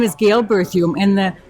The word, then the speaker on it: Berthiaume: my name is Gail berthume and the berthume rhymes with perfume right cuz I had